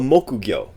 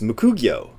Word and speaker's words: mokugyo: This is called a mokugyo. Mokugyo, which is literally wood fish. Mokugyo. And I always hear this being pronounced mukugyo.